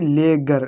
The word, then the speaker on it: ledger: और देखो यहाँ पर भी लेगर, लेगर, लेगर, डी छूट रहा है, छूट रहा है। मैंने पहले बता दिया कि अगर जी से पहले डी आता है तो डी हमारी कैसे रहती है, साइलेंट रहती है।